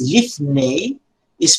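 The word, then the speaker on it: לִפְנֵי: The final vowel is lifne, is pronounced the same as sere, A, as in hey, is long, and is called sereyod.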